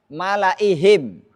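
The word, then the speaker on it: ملإيه: Apalagi malaihim. Di atas ya ada tanda bulat, maka ya-nya tidak boleh dibaca panjang, enggak boleh apa?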